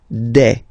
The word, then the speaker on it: des: Okay, and then the plural form, des. Alright, here S, you pronounce it like e.